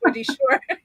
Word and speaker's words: Shore: My name is Wendy Shore. Rhymes with entrepreneur and I am a business growth strategist.